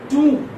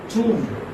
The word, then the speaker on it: tomb: Same as we have Doom.